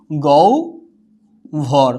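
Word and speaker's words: গহ্বর: হচ্ছে যুক্ত হওয়ার ব আছে, হয়ে যাবে কি গৌ ভর, উচ্চারণটা হয়ে যাবে কি গৌ ভর।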